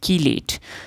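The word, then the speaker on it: chelate: नाउ the last कासेप्ट regarding coordination compound is कीलेट। नाउ इट is pronounced as की लेट। सो इट इज कीलेट।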